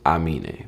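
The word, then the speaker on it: Aminé: Amine, this is how it's pronounced. Yeah. If you want the real like African way of saying it, is I mean it.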